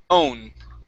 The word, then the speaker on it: own: So what you want to eliminate is that vowel sound between the W and the N, okay? So all I want you to do is pronounce an O sound, O, and then an N. O, N, own.